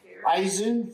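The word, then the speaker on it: Izun: Did I pronounce it right? Eisen? Yes. Eisen Pharma.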